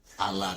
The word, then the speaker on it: a lot of: التي هنا بتتنطق دي خفيفه، بدل ما نقول a lot of بننطقها امريكان اكسنت نقولها ده a lot يعني دي بس خفيفه.